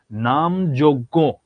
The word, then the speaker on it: নামযোগ্য: নামযোগ্য শব্দটির সঠিক উচ্চারণ কি? আমি একদম উচ্চারণ করে দিলাম কিন্তু, নামযোগ্য। ঠিক আছে, এখন তোমরা অ্যান্সার করো, দেখি কি অ্যান্সার করো। এটার কি হবে? এটার উচ্চারণ নাম যোগ্য।